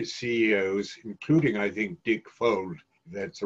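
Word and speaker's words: Fuld: is that many ceos including i think dick fold that's the right pronunciation uh of lehman brothers are so confident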